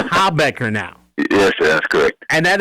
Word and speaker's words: Habecker: yes sir all right I've heard hey Baker I've heard how Beckert but it's a ha Becker now yes good and